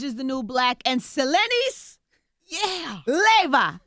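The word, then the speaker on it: Selenis Leyva: And Selenis, Leva. Yes. I said it right.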